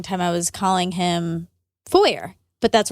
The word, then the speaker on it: Foer: You have the easiest time saying Foer. Foer. I want to say Foyer or Foyer. I think I was mispronouncing it for a long time. I was calling him Foer, but that's wrong.